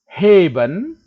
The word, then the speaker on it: heben: Heben, heben, E-nya ini panjang, heben.